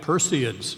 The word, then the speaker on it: Perseid: this great line bright Perseids look at them listen to the meter their bright Perseids Perseid is always a three syllable word flash and crumble so